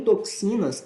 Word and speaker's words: toxinas: letras por quê porque o x em toxinas ele tem dois fonemas o som de oi tá tó tó tó sina então nesse caso eu